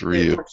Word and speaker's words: Ryu: hold on hold on rayu or Ryu it's Ryu figh it could be Ru it's Ryu we're gonna say Ryu